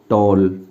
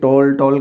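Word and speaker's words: tall: अब यहाँ पर ये टॉल का मतलब टाल नहीं है, ये इसका भी उच्चारण आप गलत करते होंगे, इसको ज़्यादातर टाल बोल देते हैं, बिल्कुल गलत।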